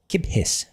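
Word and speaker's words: kippis: kiphiss. Giphiss. Place a the stress strictly on the first syllable. Gip. Gipus. Double P. Hold the P sound slightly longer because of the double letter.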